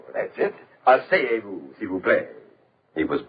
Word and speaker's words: asseyez-vous: Asseyez-vous. That's it. Asseyez-vous, s'il vous plaît.